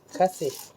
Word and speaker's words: KAZE: ครับ U คซ ชึบ คาซ หรือ อ่าน ว่า เคส นะ เอ เกส ก็ ได้ ใช่ ม เหมือน casas